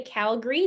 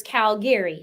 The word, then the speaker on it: Calgary: Calgary some people say Calgary those are typically the people who grew up here and then there's Calgary so there's two ways to say it I know when people